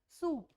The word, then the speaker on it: soup: Like example, सूप, SOUP, सूप को हम पढ़ते हैं SOOP, सूप। SOOP सूप की स्पेलिंग नहीं है, SOOP सूप की स्पेलिंग नहीं है, ये जस्ट इंग्लिश की प्रोनाउंसिएशन है आपके लिए कि SOUP, OU को हम ऊ की साउंड देते हैं, कुछ भी और साउंड देने की नीड हमें नहीं होती है। तो SOUP को SOO ऊ की साउंड देके सूप बोला जाता है।